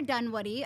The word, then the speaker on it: Dunwoodie: today we have a very special guest Connor Dunwoody I'm pronouncing that right right you got it and